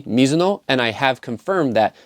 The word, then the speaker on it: Mizuno: In fact, Mizu is the same as Mizu, meaning water. So now you know it's technically actually Mizuno. But due to potential pronunciation issues or just westernizing or Americanizing different words, the same way many people say Adidas instead of Adidas, just know that the brand name is technically Mizuno, and I have confirmed